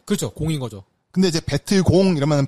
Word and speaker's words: 베트콩: 근데 이제 베트공 이러면 발음이 어려우니까 베트콩. 아니, 발음이 실제로 CO로 돼 있어요. CONG. 공산인데 우리 콩산. 콩산은 그러니까 같은 한자를 베트남에서 읽는 방법, 우리나라에서 뭐 읽는 방법 다르잖아요. 그 차이인 것 같은데.